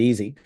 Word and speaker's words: EZzy: And I go, "It's easy. Actually, you pronounce it easy."